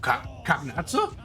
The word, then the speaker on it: Cagnazzo: Oh, Kagnatsu? Ah, so that's how you pronounce that.